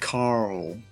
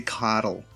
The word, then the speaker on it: Carl: But yeah, you kind of got to roll the R and the L together for the American pronunciation of Carl. Carl. But we say Carol. Carol. How's it going, Carol?